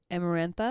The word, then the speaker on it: Amarantha: that miranda i'm marin i say it please amarantha you just got i'm just getting so hurry